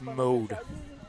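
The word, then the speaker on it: Maude: quarterback, I think, is pronounced mode. Mode. So, think about it. It's spelled M A U D E, but it's pronounced like M O D E.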